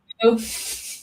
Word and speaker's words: Roux: Oh, that's Roux, very like important. Roux.